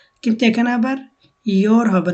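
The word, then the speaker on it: gör: যে এখানে দেখেন, এখানে হবে ইয়ার, এটা গোর হবে না, কিন্তু এখানে আবার ইয়োর হবে না, এটা হবে গোর।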